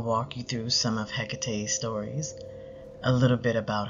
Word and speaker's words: Hecate: you through some of hecate's stories a little bit about her and how we work with her in the temple from research the name hecate greek pronunciation or ekate the latin pronunciation means from afar which